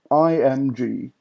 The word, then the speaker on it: IMG: And moving on, we have IMG. IMG is pronounced img. I don't know why. It sounds rather silly, but that's the way it's pronounced, as I've always been told.